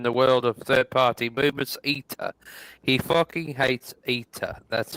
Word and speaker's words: ETA: ETA, that's how they say it.